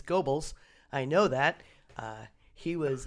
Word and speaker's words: Goebbels: Once again, mispronouncing names. It's Goebbels.